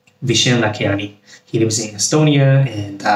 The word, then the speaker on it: Vishen Lakhiani: Mind, written by the founder of Mind Valley, Vishen Lakhiani. I think I pronounced it right. Vishen Lakhiani.